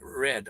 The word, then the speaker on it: read: the other words yeah the first one sounds like the word red red but it's spelt r-e-a-d oh there's red speaking